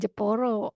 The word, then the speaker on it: Jepara: Iya kalau Pak Arif Jepara itu bacanya jeporo pakai pakai n depnya pasti jeporo.